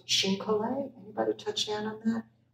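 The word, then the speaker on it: chine-collé: And this has a technique called Xin Collet. Anybody touch down on that? We're gluing Xin, meaning Chinese, pronounced in French, Collet, meaning to glue, all these petals, there's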